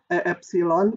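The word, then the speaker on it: ε: Di tabel ini diinginkan kalau delta epsilon, ini bacanya epsilon ya bilangan ini, huruf Yunani.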